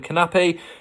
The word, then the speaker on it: Knappe: Now, I thought it was a silent K in his name, but the commentator last week was calling Knappe, so that's what I'll go for at 50 to 1.